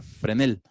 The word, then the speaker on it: Fresnel: una persona que semos agustín vásquez fresnel que realmente se pronuncia frene el él es el que